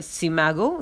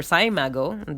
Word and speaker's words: SCImago: in another world ranking, the CIMAGO, that is, or CIMAGO, depends on how you say it, Journal and Country Rank, which is part of the SJR database.